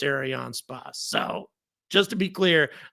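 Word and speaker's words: Arianespace: the comments saying it's not Aron SP it's AR on space squit trying to sound like your French blah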